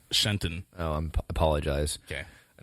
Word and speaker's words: Shenton: It's pronounced Shenton.